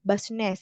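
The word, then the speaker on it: business: itu dari bahasa Inggris kalau bahasa Inggris kan u itu dibaca a ya basnes gitu ya basnes Atau eh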